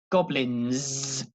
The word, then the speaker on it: goblins: no no the N the letter n there with no G comes from the front comes from the tongue and the teeth no goblin no no no and obviously with the S on the end but in the S is not an S it's more like a Zed sound goblins goblins okay so